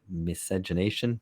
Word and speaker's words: miscegenation: And so in Brazil, it was deliberately the policy of deliberate miscegenation.